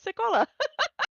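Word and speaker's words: Sekolah: that right but uh let me see if I can say it correctly oh there it is uh no I am saying it right seola okay um uh that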